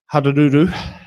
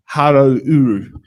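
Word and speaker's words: Hauāuru: Te Tai Hararuru. No, Harouru.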